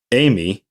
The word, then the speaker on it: AME: aircraft maintenance engineer in ame pronounced amy or licensed aircraft engineer